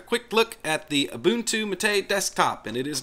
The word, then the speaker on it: MATE: Most Englishspeaking people will pronounce mat as mate. However, when referring to the mate desktop, the correct pronunciation is mate.